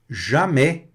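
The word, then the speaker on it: jamais: Muito importante agora com o som mais aberto, com o som da vogal e mais aberto fica e fica e tá certo?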